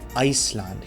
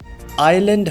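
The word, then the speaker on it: island: Similarly हमारे पास word है आइलैंड, लेकिन इसको हम प्रोनाउंस करते हैं आइसलैंड। क्यों? क्योंकि उसमें हमारे पास एस है, लेकिन एस इज साइलेंट। आइलैंड होता है, आइसलैंड नहीं होता।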